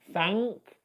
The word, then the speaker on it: thank: of an example, but if you've got the N and the K in one syllable, typically in a single syllable word like thank, you don't pronounce an N, you pronounce an and then you pronounce the K afterwards.